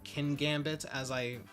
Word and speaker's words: Kingambit: So Bishop's evolution feels a bit obligatory, and while there's a lot of thought put into Kingambit, or Kingambit as it's apparently pronounced, I'm not totally sold.